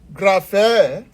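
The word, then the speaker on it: γραφή: you don't know it, you can transliterate it with the English equivalent of the letters with G, gamma, G, rho, R, alpha, A, phi, phi, as P and H, eta, double E. If you are asked to pronounce this easily, you'll be able to call it what? Graphe.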